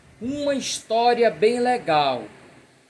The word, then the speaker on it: história: No entanto, quando esse H é mudo, ele funciona como vogal. Por exemplo, vamos ver aqui. Acho que eu dou um exemplo aqui. Ó, uma história bem legal.